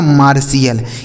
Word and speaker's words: martial: उसी तरीके से इसे पढ़ेंगे MARTIAL, तो MAR से दोस्तों हो जाएगा आपका मार, और TIAL का उच्चारण क्या हो गया, CL, यह लिखा गया है आपका मार्शियल।